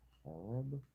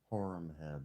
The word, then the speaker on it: Horemheb: 100 blows and 5 open wounds was the punishment for stealing in the court of Horeb? Horemheb. That's how his name is pronounced.